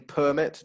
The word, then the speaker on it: permit: Permit is a noun, like a driving permit, driving license, permit, and permit is in the verb to allow someone to do something. Permit, second syllable.